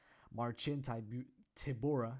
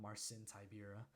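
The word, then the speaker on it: Marcin Tybura: on to Marchin Tabora I just realized I've been saying that name wrong you know like a few days ago marching tibora it's not Marcin tibera margin tomorrow versus blagoi even off number 10 verse number 15.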